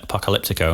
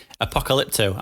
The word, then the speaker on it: Apocalypto: now no you called you said it right which is apocalypto i said it wrong which is becoming the norm yeah but yeah apocalypto it's called not apocalyptico i think we're still